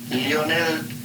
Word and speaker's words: Lionel: setting them up against Lionel Messi his name with the Spanish Argentinian pronunciation Leonel Messi it's like taking the